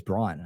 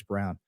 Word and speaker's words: Braun: Braun or Braun plan, that I think it's Braun. I actually don't think it's Brown, but I could be wrong. The Werner von, I don't know how you spell it. Werner von Braun. Yeah, Werner von Braun, not Brown, dumbass.